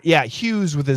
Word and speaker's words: Hughes: Howard Hughes is the pronunciation.